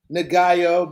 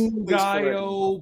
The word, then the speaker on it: Ngaio: video, I'm sitting here with the legend himself, Ngaio Bealum. Am I saying? Ooh, no, you're not pronouncing it right. Oh fuck! I hate when people do it. All right, please Ngaio Bealum.